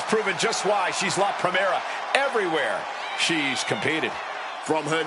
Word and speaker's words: Primera: You need to roll your R's a little bit on that, man. La Primera.